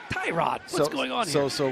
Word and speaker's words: Tyrod: as we've been pronouncing, he wants to pronounce Tyrod Taylor from now on. So I'm trying to make the switch there. You know, it's tough. It's tough he to make says the switch Tyrod, he says Tyrod.